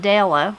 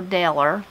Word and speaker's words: Della: Joey says, I had a second great-grandfather named Pinkney, Pinkney, P-I-N-K-N-E-Y, a great-aunt named Della, they called her Deller, there's the E-R again, and a great-grandfather whose